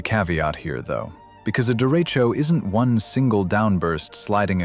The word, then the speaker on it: derecho: A derecho, pronounced derecho, is a widespread long-lived windstorm associated with thunderstorm squall lines and quasi-linear convective systems.